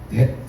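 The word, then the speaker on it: debt: 빚이 영어로 뭐죠? 데트 맞나요? 발음이 that b가 금이고 그리고 마땅히 해야 하는 것을 말할 때 우리가 듀티라고 말하죠.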